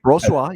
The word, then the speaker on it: Brossoit: I agree that Brossoit, or however you pronounce his name. That's right, Brossoit.